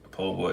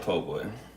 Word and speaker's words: po' boy: Po' boy, yeah, po' boy. It's like poor boy, but if you're from the south, you say po' boy, and so that's how it's spelled.